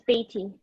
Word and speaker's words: Beatty: How do you say your name? Is it Beth? It's Beatty. It's short for.